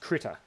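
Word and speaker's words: Krita: it in the chat it's it's pronounced critter oh I just typed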